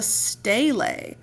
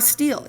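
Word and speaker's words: stele: In 38th year of his rule, Hammurabi had 282 L laws carved on a large pillar-like stone called a stale. Not not a steel. Guess I've been pronouncing that wrong.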